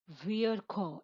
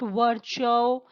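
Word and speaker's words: Virchow: last to resolve resolve Vere Cole it is not work show it is not what ciao but it is Vere Cole who wrote all Vere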